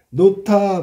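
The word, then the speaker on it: 놓다: 노타 발음할 때 음운의 개수는 4개다. 자, 선생님 봐라. 노타 발음해봐. 노타. 그러면 이 히읗하고 디귿에서 축약으로 티읕이 된 거지, 그지?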